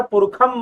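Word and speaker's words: पुरुषम्: जो आते हैं, तो वो जो षटकोण वाला जो श है उसको संस्कृत, वैदिक संस्कृत में, वेदों के संस्कृत में उसे कहीं कहीं ख भी पढ़ा जाता है। इसलिए मैं यहां पर पुरुषम महांतम उच्चारण कर रहा हूं, ठीक है।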